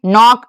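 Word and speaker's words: knock: अगर के एन शुरू में है तो के का उच्चारण नहीं होगा। नो नाइट नी नॉक नीट और यहां पे कुछ और पड़े हैं।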